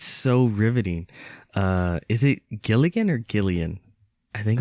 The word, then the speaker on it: Gilligan: It is Vince Gilligan.